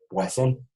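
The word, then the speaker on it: Poisson: de poison o razón no se pronunciaría francés el nombre de esta distribución se lo digamos algo estadístico francés que se apellida más y wason y no hoy son como se acostumbra decir en inglés este si se fijan tiene doble doble s razón si se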